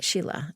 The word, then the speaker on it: Scilla: l l a so it's an Italian spelling of an Irish name but pronounced Sheila Sheila and the last name's